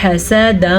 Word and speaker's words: حسدا: گا یہاں پہ، کفارا حسدا من عندی، حسدا من عندی، تلفظ کے ساتھ ادا کرنا ہے، بہترین تلفظ کے ساتھ، لمبا نہیں کرنا کیونکہ ہا اور سین دونوں پہ زبر ہے.